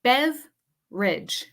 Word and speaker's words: beverage: Buffet okay next word beverage beverage here's another pronunciation tip for you guys this word in English has a dropped syllable a dropped syllable okay